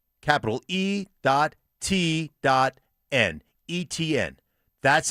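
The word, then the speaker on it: Etienne: I have done so many Jacksonville games and it's not ATN, it's eN. and the uh phonetic pronunciation that the Jacksonville Jaguars give us as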